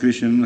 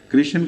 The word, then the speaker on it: کرشن: سے ہو سکتا ہے، دوسرے کرشن کا ایک تلفظ کاہن بھی ہو سکتا ہے، کیونکہ رے بعض دفعہ تحلیل ہو جایا کرتی ہے۔ اسی حدیث پر بنا